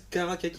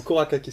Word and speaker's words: Kourakakis: Androulakis, Karakakis. Non, Kourakakis, tu vas pas voir. Ah, il s'est trompé sur une syllabe.